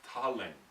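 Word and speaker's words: Thaleng: Then the next word is in Sanskrit it's aspirated, so it's Ta-leng. So T-H, but not the, it's Ta, like T-H-A. You know what I mean? So in Sanskrit that would not be tha, it would be ta.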